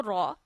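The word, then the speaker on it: ر: rule of reading raw when zra and P comes on Raw we read raw in a thick voice but when Z comes below raw then we will read raw in a thin voice ra with a thick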